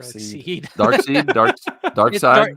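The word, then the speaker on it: Darkseid: seed dark seed dark dark side it's dark side but it's spelled like S I like pronoun dark seed I called him dark seed too until I heard him say dark side one time and I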